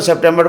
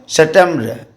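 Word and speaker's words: septembre: सितंबर को क्या पढ़ते हैं? September, सितंबर. ई का ज़्यादा उच्चारण नहीं होता है, BR तक ही उच्चारण रहता है.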